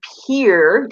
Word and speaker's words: Pierre: it is we and we live in peer even though it's spelled Pierre so tell us about